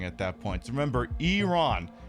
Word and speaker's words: Iran: I I usually issue this every couple of months when the saber rattling starts uh by by America and Israel, but it's pronounced Iran.